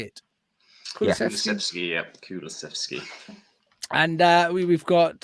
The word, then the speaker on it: Kulusevski: Kulusevski, yeah.